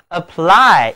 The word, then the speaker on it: apply: 这里字母 y 读作圆口的双元音 i。